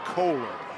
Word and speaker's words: Kohler: Talked to that young man's parents before the game, and they said it's pronounced Kohler.